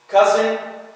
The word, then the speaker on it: cousin: Cousin, son, up. All these are pronounced the same.